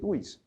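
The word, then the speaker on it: vis: Y está bien preocuparnos porque si wish packing, como dicen algunos, Paco, no se dice bis, se dice wish. Bueno, yo digo bis porque en latín oficial del Vaticano se dice bis.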